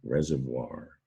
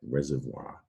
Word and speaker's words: reservoir: is water storage right reservoir now the voir spelling there that sounds like it should be spelled reservoir but it's french so get a good look at that reservoir i put an s